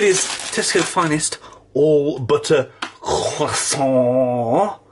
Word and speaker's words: croissant: Well, first of all, it is Tesco Finest all butter croissant, or croissants, as you say in America. You pronounce the R for some reason.